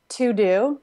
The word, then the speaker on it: Teux Deux: Mine is To-Do. It's yet another to-do app. It's spelled really weird. It's kind of like a French spelling.